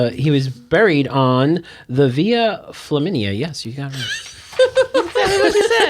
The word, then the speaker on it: Via Flaminia: Why do you pronounce it? Let me see. Okay. He was buried on the Via Flaminia.